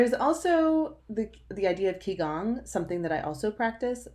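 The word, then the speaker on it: qigong: also the idea of ki gong something that I also practice that has similar moves that are repeated in yoga the more Chinese pronunciation Chi cung was a practice that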